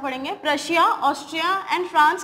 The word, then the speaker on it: Prussia: Austria and king of प्रशिया। National Assembly declared war against Austria and Prussia। इसको हम प्रूशिया announce नहीं करते हैं, इसको हम प्रशिया प्रोनाउंस करते हैं, जो कि बाद में